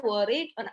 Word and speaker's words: Warwick: yang lain yaitu di Warwick work ya bacanya worry University kalau ini di